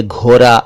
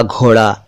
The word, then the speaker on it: घोड़ा: कई दोस्तों को इस ड़ अक्षर का उच्चारण करने में मुश्किल होती है और वो पढ़ते तो इसको हैं लेकिन बोलते र हैं, जबकि ये र नहीं है।